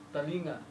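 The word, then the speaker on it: telinga: Napapansin niyo po ang pagbigkas ng bahasa Malaysia at bahasa Indonesia sa letter E. Ay hindi po siya diretso. Nasa pagitan ng A at saka E. So yung talinga.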